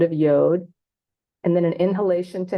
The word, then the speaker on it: yod: would be transliterated as yod rhyming with rad which we transliterate as